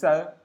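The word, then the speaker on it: ث: Dans ça, on a dit que ça, il faut prononcer ça en ayant le bout de la langue sortie, au fait. En faisant sortir un peu la langue. Voilà. Pour que le son ça puisse sortir.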